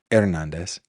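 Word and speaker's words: Hernández: I would venture to say Alma pronounces his name or her name Hernandez, which would be awesome because that's the way it's pronounced.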